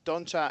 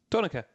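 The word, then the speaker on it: Donncha: Donica. Donica. That's Donica, yeah. I know some people in TV call it Duncha, but it's Donica.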